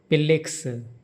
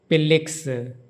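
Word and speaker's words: 필릭스: This member of Stray Kids, his name is pronounced Pil-lik-seu. In Korean, Pil-lik-seu. There is no F in Korean, so the starting is like P.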